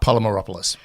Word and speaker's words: Polymeropoulos: do ladies and gentlemen drum role plays Mark polymeropoulos Mark how are you I'm doing great I have to say that you pronounced my name correctly so uh good we're